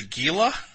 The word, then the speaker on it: Gila: so you had good some people pronounce it gila it's probably correct like a Gila monster gila is a very